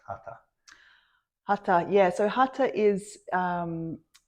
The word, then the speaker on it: Hatha: Well, we hear Hatha, but it's pronounced Hatha.